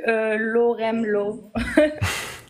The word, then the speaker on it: LoremLaw: Salut Loremlo. J'adore les gens qui essayent de prononcer mon pseudo pour la première fois, ça me fait toujours très, très rire. Comment on prononce? Lorem, Lo. Ok. C'est ça.